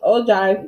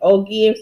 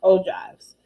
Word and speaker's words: ogive: frequency histograms in ogives oh um this is pronounced oh drive even though it's spelled like oh gibbs is pronounced o drives so um so you're gonna examine the tables